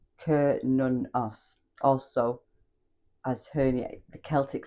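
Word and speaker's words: Cernunnos: So it's pronounced K nunos also as her the Celtic stag god.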